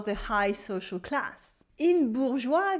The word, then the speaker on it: bourgeois: In bourgeois, the S is silent and the E is only here to make a soft G. This way, it sounds like je sound instead of g sound. There are two syllables. The first one is bourg with the ou sound and a French R, bourg, bourg, bourg. And we have joie, joie, like joy, la joie. Bourgeois, bourgeois, bourgeois.